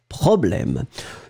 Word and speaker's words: problème: Quel est le problème. If you've got the accent on your keyboard, remember that problème goes with an accent grave on the first E. D'accord? Problème. You really pronounce it. It's really open.